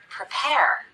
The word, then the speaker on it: prepare: look at some examples the first syllable of the word prepare is the unstressed syllable we cut the vowel we rush through it as quickly as we can even though the letter